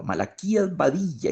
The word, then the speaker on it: Malaquías Badilla: muy bien como melodía todos son todos son nombres graves con acento en la penúltima sílaba malaquías badilla Isidro Mena Jacinto Alfaro